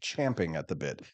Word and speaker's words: champing at the bit: There's no, most people get that wrong. We grew up on a horse farm, so we should say it correctly. Champing at the bit.